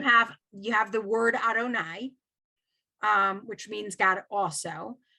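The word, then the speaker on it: אדני: you see the yud yes um that is pronounced adonai right and is that the most common is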